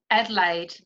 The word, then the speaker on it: Adelaide: Adelaide.